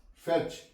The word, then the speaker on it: fetch: डिच, हिच, T silent है। हिच, फेच, FETCH, फेच, T silent है।